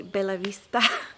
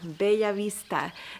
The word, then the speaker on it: Bellavista: that you would say Bell Vista because the double L's English speakers would pronounce it just like an L but in Spanish it's actually a different sound called Beav Vista be Vista that's how I would